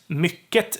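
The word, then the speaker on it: mycket: also have t and mikket is it's a word that we don't use that much anymore we use use uh intensifiers or we side note but yeah so mikket turns into mikke a word that is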